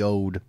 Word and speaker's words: Owd: about this is the it's spelled Marsten's owd Roger and I knew as soon as I saw that that it was going to be old yes it's old and it is a